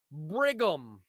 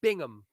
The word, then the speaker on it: Bingham: Brandon Brigham. Let's rate my man's national anthem. Plain white guy. I always said his name wrong. Jimmy Lennon played him. It's Brandon Bingham.